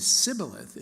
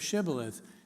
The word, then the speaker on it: Shibboleth: to distinguish Ephraim Ides whose dialect lacked the phoneme such as in shoe from gileadites whose dialect did include such a phoneme so if anyone said Sibyl a--the instead of Shibboleth because he could not